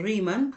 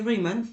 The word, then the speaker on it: Riemann: aparece aquí se conoce como la suma de riman se escribe ran pero se dice ran FX sí